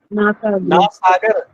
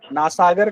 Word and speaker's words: नासाग्र: नासागर। नासागर क्या होता है? नासाग्र बोलो, ये उच्चारण सही होना चाहिए। नासाग्र या नासिका के अग्रभाग बोल दो।